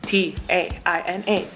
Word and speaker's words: Taina: sense to me because it's spelled exactly the way it's pronounced. T-A-I-N-A, Taina. 5 letters, not hard.